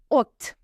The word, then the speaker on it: haute: Haute. Silent H. Silent T if it's last ending.